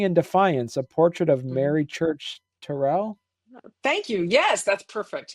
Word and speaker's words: Mary Church Terrell: out with dignity and Defiance a portrait of Mary Church Terell thank you yes that's perfect yeah that's exactly right and that's how you pronounce her name yeah okay talk to us